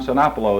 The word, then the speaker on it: Sinopoulo: privilege now sitting in the office mr cenapolo is that the correct pronunciation yes sir here in the midwest building